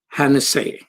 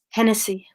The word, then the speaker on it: Hennessy: peace activists was martha hanna say welcome thank you so much am i pronouncing your last name correctly Hennessy Hennessy okay Tennessee Hennessy okay that was beautiful